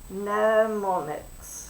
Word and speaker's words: mnemonics: I have ghosted the M, because we do not say mnemonics, but we do spell it that way. It's a silent letter.